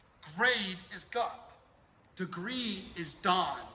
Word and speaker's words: Dan: Degree is dan. It's spelled Dan, D-A-N, but it's pronounced dan.